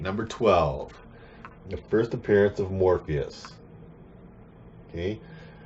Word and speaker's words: Morpheus: the first appearance of Morpheus. Okay? Not Morbius, the vampire guy. That's a different character. Morpheus, pronounced like the guy from The Matrix.